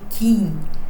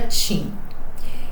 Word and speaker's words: Qin: o reino de ti que a gente escreve Queen mas se pronuncia TIM então esse reino se